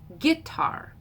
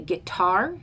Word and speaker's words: guitar: The word guitar, I say it as an I am, or an I am, unstressed, stressed, guitar. My husband, who's Appalachian, says it as a trochee with the first syllable stressed. He says guitar.